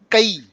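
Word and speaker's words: कै: So this is not K. It is Kai. Kai. Kai. Please pronounce it Kai.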